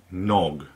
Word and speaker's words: Knog: this is it by nog I'm assuming the K is silent it's spelt KN og it's Australian company and I'm assuming that